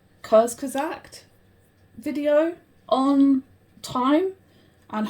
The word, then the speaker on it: Kurzgesagt: I guess I was watching I think it's pronounced Kurzgesagt video on time and how time works, and